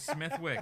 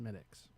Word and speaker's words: Smithwick's: You can say Smithwick's Once. one time. Okay, and then we properly and politely tell you it's actually pronounced Smittix.